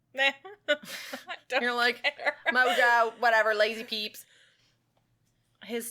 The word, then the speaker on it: Li: A lot of people just pronounce it Vincent Li. But apparently, when I was looking at the pronunciation, it's got like a little after tick on it. It's Leah, or something like that.